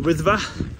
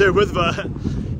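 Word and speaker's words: Wyddfa: Snowdon, but I changed the name now to Wythfa. I actually learned some Welsh. Learned how to say it properly. He says no. Wait for the comments. No, it's Wythfa.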